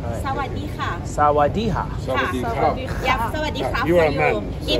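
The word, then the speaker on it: สวัสดีค่ะ: Yeah, and then first of all, sawadee ka. How do you say it again? What? Sweaty hi? Sawadee ka. Sawadee ka. Sawadee ka. Sawadee ka. By the K. Sawadiha.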